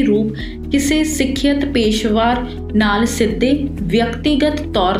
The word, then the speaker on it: ਪੇਸ਼ੇਵਰ: ਪੇਸ਼ੇਵਰ ਜਾਂ ਪੇਸ਼ਵਾਰ is a different word, so ਪੇਸ਼ੇਵਰ is a more appropriate pronunciation of saying it।